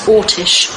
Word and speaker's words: Orsic: A lot of people spell it Orsic, O-R-S-I-C. I don't believe it was that. I believe it was Ortish.